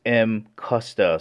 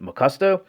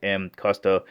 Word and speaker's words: Mcusta: Alright, before beginning, the actual correct pronunciation is Mcusta. So there's a lot of people out there pronouncing it Mcusta, which is fine too.